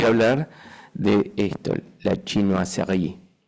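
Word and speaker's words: chinoiserie: El segundo ejemplo les voy a hablar de esto, la chinoí. Y lo digo así porque indudablemente es como lo debemos pronunciar porque la función esto es Francia y China.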